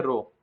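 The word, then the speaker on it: rho: The density, ये रो, इसको हम लोग बोलते हैं रो, ठीक है, इसका प्रोनाउंसिएशन होता है रो।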